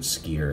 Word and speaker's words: Skyer: uh SK y r i guess you could pronounce it skier if you wanted to